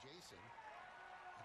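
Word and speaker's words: Jasson: j-a-s-s-o and it's pronounced Jason it's pronounced as a base hit and he was named after former Yankee Jason Giambi really oh damn I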